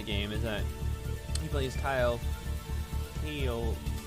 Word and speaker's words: Keil: is that he plays Keil, Keil, K-E-I-L, Flug, who becomes a rider of a powerful dragon. The reticle represents the dragon's laser and Keil's gun. It's spelled Kyle, but Keil, I don't know.